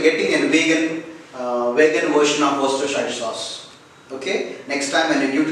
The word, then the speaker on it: Worcestershire: So it should be pronounced by removing this RSE, like Worcestershire. It is incorrectly pronounced as Worcestershire, but the correct pronunciation is Worcestershire. You should concentrate on the word W-O much.